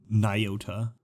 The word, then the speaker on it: Nyota: redo that line but I think it's nigh the right science guy and then Oh LEDs in potato and then tah as in rhymes with Toyota Nyota so hopefully that's right